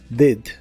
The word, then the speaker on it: did: En el pasado es did, se pronuncia con la I corta, did, did.